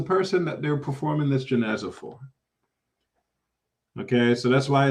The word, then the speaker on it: janaza: Just so you know, this word janaza, Jan, it can be pronounced janaza, Jan, or jinaza, Jin, but A is afsah. It's more eloquent to say janaza than it is to say jinaza, just for your benefit.